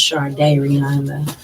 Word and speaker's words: Shardayreon: is pronounced it is close enough okay it's pronounced Char day Rihanna where do you go by Varian um